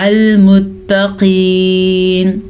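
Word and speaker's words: المتقين: ان اللہ مع المتقین. قاف کو پر پڑھیں گے. قاف حروف مستعلیہ میں سے ہے اس لیے.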